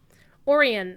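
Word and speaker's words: Orien: awesome orion uh o-r-i-e-n i'll spell it for you but it looks like it's almost that's actually the reason why i chose it back in the day is because it looked like orion because that's my favorite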